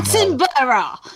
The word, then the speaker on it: Attenborough: Yeah, get back to me when you can pronounce Attenborough correctly. Scientism. No. Attenborough!